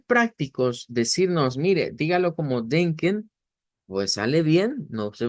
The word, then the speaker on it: denken: La del final es una ishbah. En esa de ken, no es E, ni es esta E cerrada, ni tampoco es una E abierta, es una ishbah.